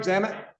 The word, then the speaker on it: Zamet: Am I saying it right, Zamet? Yes.